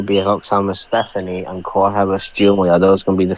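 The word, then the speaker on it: Giulia: Jia came out first Julia Julia okay for some reason I'm reading it as gulia he pronounced this Jay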